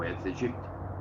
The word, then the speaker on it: Aedes aegypti: Esse vetor, na cidade, se chama Aedes aegypti, ou Aedes aegypti, como muitos pronunciam.